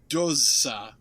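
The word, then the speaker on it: Dózsa: Yorgi Doza. Yorgi. Yeah. How do you spell that?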